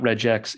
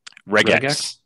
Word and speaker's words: regex: It's not regex, it's regex. Regex. Yep, okay. Because regular expression, so regex.